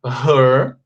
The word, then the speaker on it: her: Her, fechado, é a pronúncia da palavra dela, tá bom? E cabelo se fala com E aberto.